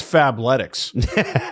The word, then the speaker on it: Fabletics: Well, should tell you guys it's Fablettics that I pronounced correctly for the first time in my life.